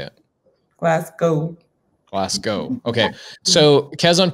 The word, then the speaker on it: Glasgow: Spoken like it's the way that it's spelled, but how do you say it? Glasgow.